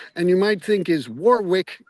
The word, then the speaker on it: Warwick: of the times the the way English place names are spelled do not necessarily reflect the way they should be pronounced. For although it is spelled uh w a r w i c k and you might think is Warwick, it's not.